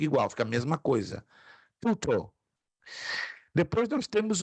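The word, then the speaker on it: τοῦτο: A pronúncia é tuto.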